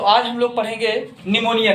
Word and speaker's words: pneumonia: हुआ था तो आप लोग पढेंगे निमोनिया के बारे में है को न्यूमोनिया अ कि सीक्वेंस पीढ़ी anuomkara60 वीडियोस में साइलेंट होता है निमोनिया पे साइलेंट होता है न्यूमोनिया होता क्या है एक्सीडेंट